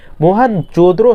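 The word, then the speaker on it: मोहनजोदड़ो: बनर्जी ने की थी मोहन जद्रो शब्द का सही उच्चारण है मोहन जो द्रो है साल 1922 ईसवी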